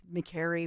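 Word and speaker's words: Makary: um remember everybody was mispronouncing his name like way back in the day and it's McCary rhymes with Mary and we would talk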